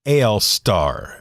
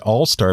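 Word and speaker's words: AL-star: A Lamy AL Star, which a lot of people I found are pronouncing it All Star, but there's not 2 L's. There's only 1 L. So it's Al Star.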